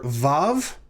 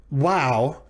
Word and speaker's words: vav: hebrew aleph bet is the letter vav or wow in older ways of pronouncing biblical hebrew we'll talk about that in just a moment so assuming for the time being that we would pronounce this wow it is pronounced like the letter w in the english word way for which reason it